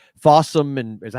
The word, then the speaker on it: Fawsome: It looks like it's on some streaming channels like Fawsome and is that how you say it? Fossome.